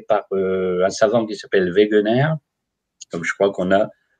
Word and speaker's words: Wegener: Là, c'est un allemand aussi, mais ça s'écrit W-E-G-E-N-E-R, Wegener.